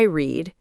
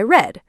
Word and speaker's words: read: Yes, the spelling is exactly the same, but the pronunciation changes. Today I read, yesterday I read.